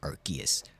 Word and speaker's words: Arceus: Yes, I said Arceus. Hard C on it.